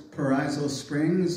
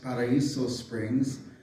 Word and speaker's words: Paraiso Springs: here's perizo Springs are properly pronounced Paraiso Springs and the height of its Heyday Circa 1900.